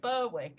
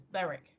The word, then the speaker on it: Berwick: and it's Annie so Beric is that but a lot of people say Berwick and it's not it's Beric especially the Yanks yeah